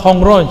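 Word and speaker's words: Hurgronje: Snok Hongroj, ya. Nggak pakai H itu, bacanya Ong apa gimana gitu cara lafaznya. Itu pakai serban Pak, pakai turbus, mukanya kayak muka-muka orang Turki.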